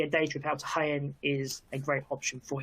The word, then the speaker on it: Jaén: Not pronounced Jane, I don't believe. I think it's Jaén, which is a city in southern Spain, of course.